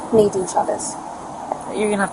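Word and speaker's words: Naadien: Naen Chavez. You're going to have to spell that one out.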